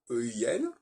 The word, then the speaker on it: ein: On a ein, E-I-N, et eine pour le féminin. Bon, déjà, il y a un problème parce qu'ils prononcent le N de ein.